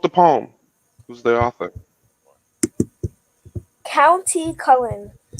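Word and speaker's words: Countee Cullen: poem who's the author County Cullen I don't know if I'm saying that right you said it right County Cullum okay all right so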